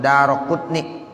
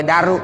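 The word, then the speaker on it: Daraqutni: sering hadis riwayat Imam daroqunnik ada rokutni yuk kalau kita belajar ilmu Nahwu tuh darahnya roknya mabni halal patah edaro ya Enggak boleh Daru bacanya yuk nah baru nanti yang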